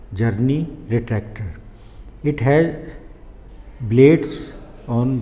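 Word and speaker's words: Czerny: This is the name of Journey. C is silent, then the correct spelling is C Z E R N Y, Journey retractor.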